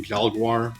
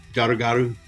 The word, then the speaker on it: Jalguar: Uh I keep calling him Jaguar because that's how his name is spelled. It's not how it's pronounced in uh Japanese. Uh it's more uh Jaguaro.